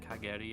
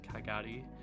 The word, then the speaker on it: Kagari: I changed it up a bit, changed because it's like instead of Kageri, it was Kagari. So I changed it to like Kagari like that.